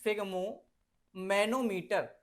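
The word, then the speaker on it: sphygmomanometer: pronunciation में disturb करते हैं लोग बाग इस फिग्मो मैनोमीटर इस तरीके से इसको प्रोनाउंसिएशन कर लेना तो ये डिवाइस क्या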